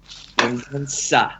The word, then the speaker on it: Mendonça: Mendonça. It's a soft C.